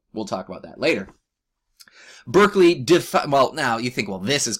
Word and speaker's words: Berkeley: And we get names like George Berkeley. I've also heard it sometimes pronounced Barclay.